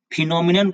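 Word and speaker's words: phenomenon: फिनोमिनन का दो मतलब, एक तो घटना लिखेंगे, इसका उच्चारण मैं यहां लिख देता हूं फिनोमिनन, ठीक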